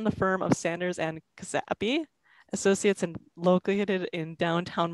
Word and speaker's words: Czapski: So Czapski, that's pronounced anyway.